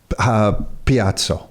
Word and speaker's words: piazza: Mall, and Rockwood Mall act as the modern Piazza.